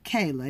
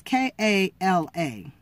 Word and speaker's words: Kala: I wouldn't say Kayla. It's K-A-L-A. So I'm going to pronounce it Kala.